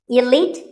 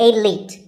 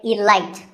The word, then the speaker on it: elite: Actually, there are two correct pronunciations, elite and elite. Both are okay, but just don't say elite. There's no light in elite.